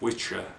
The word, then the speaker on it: Wicca: Wicca, which is actually pronounced Witcher, but not many people know that.